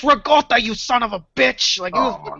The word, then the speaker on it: ricotta: way rot there's a there's Itali way to say ricotta cheese it's rotta you son of a